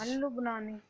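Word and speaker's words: اللبناني: Al-Lubnani. Yes, Al-Lubnani. This time we have two lam. So first lam is silent, yes, and second lam is Shamsi lam.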